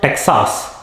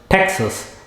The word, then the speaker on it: Texas: Next, it is not Texas, it is Texas.